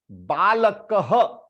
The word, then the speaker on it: बालकः: Like for example, balakaha. Balakaha means child, bacha. Balakaha. Because it ends with ka. Balakaha. If I attach this thing with ka, this will become ha, and this ha, half.